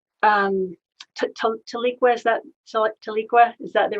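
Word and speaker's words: Tahlequah: a show in um to leak where's that taliqua is that the right pronunciation that's it it was called breaking the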